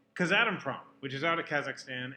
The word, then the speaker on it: Kazatomprom: How's it pronounced? Kazatomprom, which is out of Kazakhstan, and international in scope.